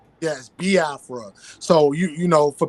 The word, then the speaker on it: Biafra: is is a e sound so it's yes ba Afra so you you know for people out there who want to know how to pronounce it some people say B Afra because